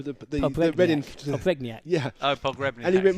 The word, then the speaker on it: Pogrebniak: but go on, pronounce his name for me. Stefan Mbia. No, the Reading. Pogrebniak. Yeah. Oh, Pogrebniak.